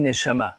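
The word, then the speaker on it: נשמה: Et âme se dit neshama, comme tu vas l'entendre. Elle se prononce presque pareil. Neshama, neshima. Il n'y a qu'une lettre de différence et la racine est la même.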